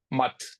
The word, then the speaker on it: math: Um whenever whenever there's a Hindi or Sanskrit word that's got an a you have to almost pronounce it like a U. It's like a mut. You don't say mut. Mut. Okay.